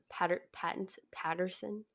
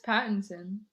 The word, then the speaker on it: Pattinson: You don't think of Robert Patterson? How do you say his last name? I think it's Pattinson. There's no Pattinson? Oh, I don't know. It's definitely not Patterson.